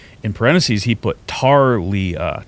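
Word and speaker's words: Thalia: In parentheses, he put Tarlea, T A R {dash} L E E {dash} U H. Tarlea. Talia. Which I suspect is a Australian way to say it.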